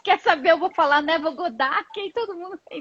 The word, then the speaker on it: Neville Goddard: Então aqui no Brasil ele é conhecido como Neville Goddard. Só que a pronúncia não é essa. A pronúncia em inglês é Neville Goddard.